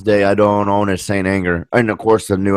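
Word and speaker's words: St. Anger: Saint Anger.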